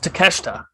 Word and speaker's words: Takeshita: wrong the entire time so right it's just takeshita which if you slow it down i can see why that pronunciation is formed from that spelling but yes